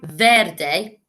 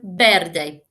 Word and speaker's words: verde: verde we don't say verde in spain we say verde the v makes a sound more like a b and finally which letter